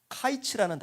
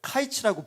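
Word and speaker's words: קַיִץ: 뭐였냐면 여름 과일이라는 뜻은 카이츠라는 단어가 쓰여져 있어요. 카이츠. 여름 과일을 카이츠라고 부릅니다. 그런데 캐치라는 단어가 카이츠랑 비슷한 발음으로 들리는 거죠.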